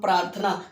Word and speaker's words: प्रार्थना: तो उसको बोलेंगे हम प्रार्थना तो इस तरीके से बोलते हैं जिस पे ये दिया रहता है ना इसको आर का उच्चारण करते किसका पहले ए जाता है जिसपे रहता है उसके